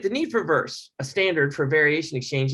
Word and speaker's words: VRS: variation representation specification or vrs pronounced verse this is the first